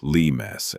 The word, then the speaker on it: limes: The Romans call it the limes, and no, that's not the fruit. It's pronounced more like limes, and it just means border or boundary.